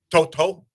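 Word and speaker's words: To'oto'o: It's actually Toto. Toto. Yeah, Toto? it's like you have to say it like real thick, like with like the Hey, Samoan man.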